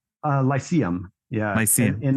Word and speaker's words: Lyceum: pronounce it right uh lyceum yeah i see it in the mice yeah i i actually like to say lyceum because that actually is like the ancient greek version i like that sound